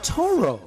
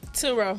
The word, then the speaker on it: Turo: right now with Yatana Toro, which is one of our brand new sponsors. Did I say it right? Turo. Yatana Turo. I said Toro. Turo. I said Toro instead of Turo.